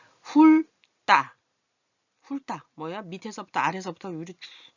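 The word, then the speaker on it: 훑다: 이거 훌 여기 발음이 좀 뭉쳐졌는데 우자예요. 훌따.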